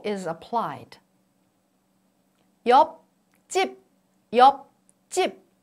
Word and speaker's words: 옆집: In the first syllable, the last consonant is P sound. It doesn't sound as it is. Its representative sound is P sound. And P affects CH sound. And then CH becomes CH sound.